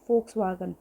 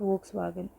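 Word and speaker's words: Volkswagen: फोक्सवागन, नॉट वोक्सवागन, इसको बोलते हैं फोक्सवागन।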